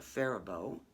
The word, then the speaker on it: Faribault: from what's called a faribault f-a-r-i-b-o but it's from the faribault woolen mills in faribault minnesota and that faribault is spelled like the french faribault but i think when